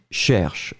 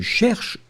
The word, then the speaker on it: cherches: Not the end of the world, you don't pronounce it, but still it should be there technically. Tourne à droite. D'accord? Si vous cherchez une boulangerie, tournez à droite. Si tu cherches une boulangerie, tourne à droite.